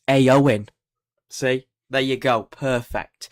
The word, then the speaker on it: Éowyn: at me if I say it wrong it's AO in see there you go perfect so going we're